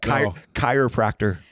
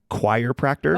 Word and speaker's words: chiropractor: Chiropractor. You just said it wrong. Chiropractor? Oh, you said chiropractor. Oh, so she would call it a choirpractor.